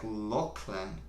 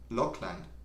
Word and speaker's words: Lachlan: Oh, you pronounce it like Lachlan. Lachlan. Lachlan. That also sounds very Irish. Is it Irish? And no one in South Asia was say the second L for some reason.